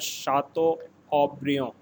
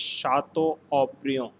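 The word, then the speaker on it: Château Haut-Brion: france it is called shato obrio here t word is silent a u is pronounced as o again repeating it is shatto oprio and this particular shato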